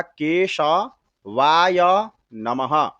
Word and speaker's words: केशवाय: देखिए, केशवाय नमः नहीं बोलना है, इसका उच्चारण होगा केशवाय नमः।